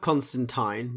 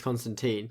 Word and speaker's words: Constantine: It's spelt Constantine, but it's Constantine.